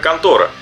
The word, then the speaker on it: 魂斗羅: Японское название, как я уже говорил, звучит как контора.